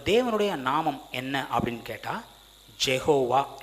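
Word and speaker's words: Yahweh: நாமம் என்ன அப்படின்னு கேட்டா ஜெகோவா இல்ல யெகோவான்னு சொல்லுவோம் இதை எபிரேய பாஷையில யாவே அப்படின்னு சொல்லுவாங்க இதை உச்சரிக்கிறதுக்கு கூட தயங்குவாங்க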